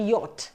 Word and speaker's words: yacht: सो इसका जो pronunciation, it हैज टू बी यॉट.